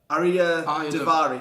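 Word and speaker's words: Arya Daivari: Arya Davari.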